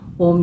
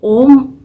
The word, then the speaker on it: ओम: यह कैसे होता है जो ओम शब्द है ये बहुत ही इंपॉर्टेंट होता है ये छोटा सा वर्ड है लेकिन इसमें क्या होता है यह तीन उच्चारण से मिलक बना होता है जो कि अ उ म ये जो तीन उच्चारण